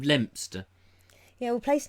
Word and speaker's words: Leominster: Leominster instead of Lempster.